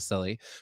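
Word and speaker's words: Cilley: homer uh silly uh his name rhymes with silly produced a television broadcast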